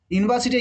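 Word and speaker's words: university: দেখো ইউনিভার্সিটি Yuta কি এর মতো উচ্চারণ দিয়েছে, ইউনিয়ন ইউ, এটা ব্যতিক্রম, এটা ভালো হলো, এটা এ হচ্ছে, এটা জানো তোমরা।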